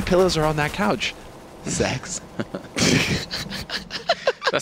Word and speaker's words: sex: Sweden guys the letter the number six rather not the letter is pronounced sex which leads to a